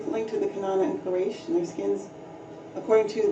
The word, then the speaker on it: Quraysh: All right, so the Gerasa are also still there, black, and the Banu Kanana, also called Quraysh, pronounced Quraysh, means sharp.